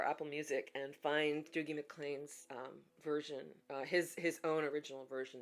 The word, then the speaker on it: MacLean: His last name is MacLean, MacLean.